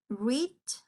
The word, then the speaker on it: read: Voy a pronunciar de esta manera, como el color rojo. I read a book 3 weeks ago.